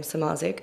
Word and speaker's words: Samardzic: And my handle is just, my last name, Samardzic, which is _SAMARDZIC with a silent D.